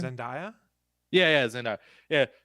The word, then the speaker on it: Zendaya: How you pronounce her name? Zendaya? Yeah, Zendaya.